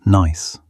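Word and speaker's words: gneiss: Another fascinating metamorphic rock is nice, pronounced nice.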